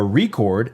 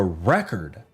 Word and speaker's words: record: No, it's a new record because you put the infasis on the wrong sal. It's not a a record. It's a record.